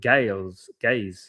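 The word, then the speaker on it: Gais: It's called Gays. Oh, they're called Gays. Okay. Pronounced like guys.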